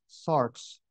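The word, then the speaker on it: σάρξ: the New Testament it comes from a Greek word that we pronounce SARS uh we transliterate s a RX SARS and it simply means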